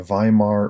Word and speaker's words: Weimar: Right, it was called the Weimar Republic. You can see it right there. That's your one lone vocabulary word for this section. So the Weimar Republic. Remember, German words pronounce W's like V, so if you want